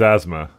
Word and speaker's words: asthma: Uh I did learn that uh this is asthma. Uh for some reason I just kind of expected to be ASMA. Um like uh the th is silent and that's what confused me kind of a thing.